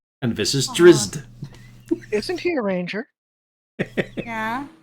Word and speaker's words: Drizzt: No, we just have to pronounce his name correctly. He's Drist. And this is Aw. Drizzt.